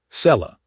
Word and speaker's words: Cella: Cella. Two syllables soft.